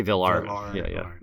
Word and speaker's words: villarrte: B was V or V art I say V art or sometimes it just sounds like a veneral